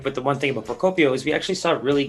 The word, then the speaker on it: Procopio: Procopio. Oh, it's a hard C there. Hard C.